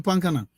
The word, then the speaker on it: Pankana: When they see what in the Pankana, and the Pankana means for you, our international people, palm kernel, right pronunciation in Liberian term Pankana, right?